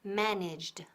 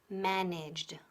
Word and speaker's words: managed: En este caso, la terminación es de, como de fuerte. Managed. Managed, ¿ok?